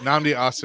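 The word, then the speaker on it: Nnamdi Asomugha: Is that- Namdi Asamoah.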